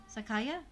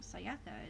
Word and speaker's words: Sayaka: Sakaya? That was wrong. Sayaka is how it's spelled, not Sakaya.